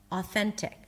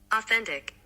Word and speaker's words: authentic: So basically you don't pronounce the tik there. It's t to authentic. I can play it. Authentic. I can play it in slow motion as well. Authentic.